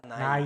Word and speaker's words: 나이: Edad se llama na이, Edad es nai, 나이, nai.